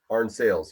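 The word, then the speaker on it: Arne-Sayles: Arnsales, yes.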